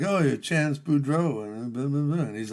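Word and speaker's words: Boudreaux: They're like, "Oh, you're Chance Budro." And he's like, "Yeah, that is right. I am Chance Budro. Uh, it rhymes with Cluso.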